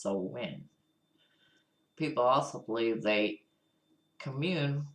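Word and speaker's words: Samhain: New Year in a festive called so we pronounced so win people also believe they commune with the dead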